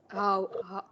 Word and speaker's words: hours: She has studied English for 2 hours. 2 hours. H is silent, yes. Hours.